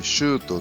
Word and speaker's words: Shuto: Shuto é um atacante predestinado, pois seu nome Shutto tem a mesma pronúncia da palavra que significa chutar uma bola.